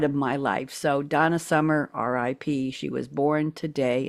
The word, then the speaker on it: Summer: But I have to tell you, Donna Summer, and it was just Summer, not Summers. A lot of people say it's Summer apostrophe S possessive.